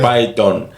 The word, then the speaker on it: Pyton: Due to some media spelling kind of things, people write the pronunciation Python, but it's Pyton.